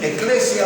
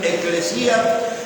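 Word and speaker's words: ἐκκλησία: Pues la palabra iglesia, la palabra eclesía, algunos dicen eclesia, otros pronuncian eclesía, pero lo importante es que ese término significa los llamados afuera.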